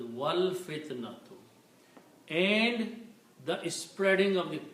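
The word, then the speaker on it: وَالْفِتْنَةُ: When you read with the waw in the beginning, you do not pronounce alif, so it is wal fitnatu.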